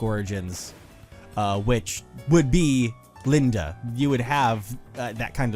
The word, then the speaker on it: Linde: No, that doesn't sound pronounced Linda. I would think so because I've always said Lind with the silent e.